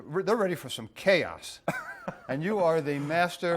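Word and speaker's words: KAOS: in a room called chaos but with a k with a k you're with a c-h-a-o-s this is the k-a that's true that is true pronounced the same way right right right you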